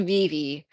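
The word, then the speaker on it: Vevay: It's called Vivi, but it's spelled like Vet, but she lives in a mansion that's like near Madison.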